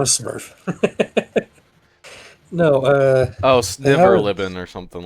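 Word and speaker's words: svirfneblin: No, Oh, they have Sniverlibin or something like that. I don't know how to say it either. it's Zwerfneblin.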